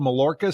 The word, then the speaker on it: Mallorca: I mean, I found a dress shoe place over in, is it called Mallorca, Spain? Am I pronouncing it right? I don't know how to. Yeah. Mallorca.